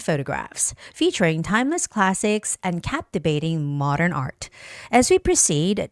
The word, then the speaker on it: captivating: So photographs featuring timeless classics, captivating has the first syllable stress.